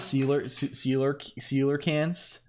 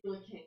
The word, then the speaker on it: coelacanth: It's not sealer cans. Yeah, it's pronounced coelacanth.